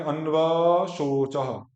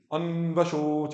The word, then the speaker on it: अन्वशोच: क्योंकि व में जो आ है वो छोटा है, उसको बस छोट, अगला तुरंत स्टार्ट होगा उसके साथ, उसमें रुक नहीं सकते हो आप। कि आ तो बोल रहे हैं लेकिन लंबा बोल रहे हैं, कुछ करेंगे अन्वशोचः, गलत हो गया, क्योंकि अ को हमने क्या कर दिया, दीर्घ कर दिया, जो कि दीर्घ नहीं था।